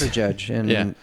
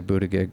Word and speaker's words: Buttigieg: Generally, if G or I or E follows G, it's a soft G. But I think of things like gig and give me, and I want to say Buttigieg. But anyway, I digress.